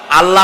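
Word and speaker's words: الله: আল্লাহ বলেন তো আল্লাহ নয় কিন্তু আল্লাহ হচ্ছে অশুদ্ধ শুদ্ধ হচ্ছে আল্লাহ বলার সময় মুখটা গোল হয়ে যাবে বলেন তো সবাই উচ্চারণ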